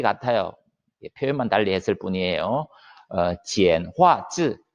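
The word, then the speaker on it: 简化字: 지엔화즈, 지엔화즈라고 발음하는데 지엔화라고 하는 것이 간단하게 만들었다 이런 의미예요.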